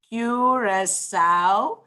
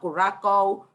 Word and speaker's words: Curaçao: or a diacritical mark it denotes that the c needs to be pronounced like an s so it's not kurako urachoa or anything in